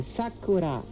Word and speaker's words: Sakura: This one here is a Sakura. Sakura. Sakura. Sakura. The emphasis would be on the first syllable.